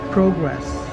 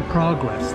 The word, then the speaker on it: progress: I just spoke like a Canadian, progress. My family's Canadian, so I know how strange they speak up there. Hello, Canada. Love you. Now, as you progress, that's how Americans say progress. Progress is for the Canucks, for the Canadians.